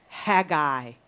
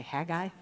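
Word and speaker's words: Haggai: it Hagi or Hagi it is pronounced both ways depending on where you're from so I may do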